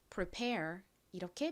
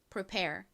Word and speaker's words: prepare: 그래서 prepare 이렇게 발음이 됩니다. prepare.이 단어도 역시 pair 부분에 강세가 있어요. 뒷부분을 강조해서 발음해 주세요. 같이 해 볼게요. prepare. Prepare이 아닙니다. 뒷부분을 강조해서 prepare. 이렇게 발음해 주셔야 돼요.